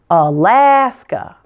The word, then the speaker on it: Alaska: with me Alabama Alabama now Alaska the middle syllable has primary stress and the first and last days reduced to a schwa sound Alaska Alaska notice that that middle a is also an ass sound like in Alabama now Arizona there are